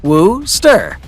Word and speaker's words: Worcester: number 7 worcestershire sauce two chemists from wooster pronounced woo stir call john wheely lee